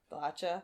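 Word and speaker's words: Blacha: Brendan Small and Tommy not Tommy Blacka apparently it's Tommy Blae Blatcher.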